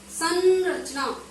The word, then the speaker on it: संरचना: की मात्रा है, किंतु यदि हम इसका उच्चारण ढंग से करते हैं तो हम पाते हैं कि हम बोलते हैं संरचना, यानी आवाज तो आती है न की, किंतु यहाँ पर मात्रा है अंग की।